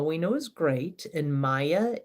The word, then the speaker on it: māyā: Now, Maha we know is great, and Maya is the way it's spelled, long A, M long A, Y long A.